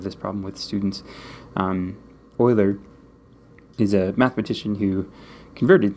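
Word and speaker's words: Euler: to Oiler that word I know it looks like it should be pronounced ooler or something like that I always have this problem with students um oer is a mathematician who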